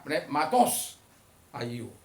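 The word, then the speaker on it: πνεύματος ἁγίου: Dalam Perjanjian Baru, Roh Kudus, pneumatos hagiou...ya, Roh Kudus, hagios, dieja h-a-g-i-o-u, tetapi diucapkan...Ya, itulah pengucapan yang benar; jadi, pneumatos. Pneumatos, jika Anda membacanya, pneumatos hagiou.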